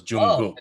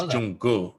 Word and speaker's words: Jungkook: saying it wrong because they don't pronounce the K as K, it's G, so it's Jungkook, it's Jungkook, like I but the way they do it doesn't sound like the way I'm doing it, but that's how you pronounce the K and the G have the same sound.